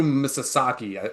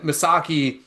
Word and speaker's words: Misaki: He goes to the corner and is Kazu Misasaki, I believe is how you But pronounce just it. call him Misaki.